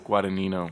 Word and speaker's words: Guadagnino: Guadagnino.